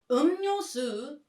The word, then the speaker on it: 음료수: 음료수 is drinks. Native Koreans pronounce it 음료수.